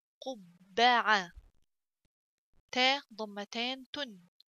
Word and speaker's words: قبعة: قبعة. تاء ضمتان تن. قبعة. قبعة. قبعة means hat. So let's write together قبعة قبة قبة. So ba, little ba pronounced twice with little pause in the middle.